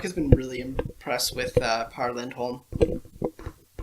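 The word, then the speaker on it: Pär Lindholm: been really impressed with Par Lindholm, which is actually pronounced pear, but I'm not going to get to that because I like it Par.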